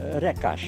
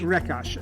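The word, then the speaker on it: Recaș: Rekas, is that how I would pronounce that? Rekas. Rekas.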